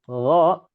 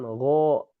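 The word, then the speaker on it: غ: Saat mengucapkan huruf ghain dan kha ini dikarenakan tidak boleh diucapkan dengan bibir monyong misalkan gho, kho, misalkan gho, so itu tidak boleh.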